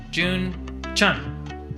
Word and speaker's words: June Chun: all right we're here Dr June Chun yes psychology resident I said it right only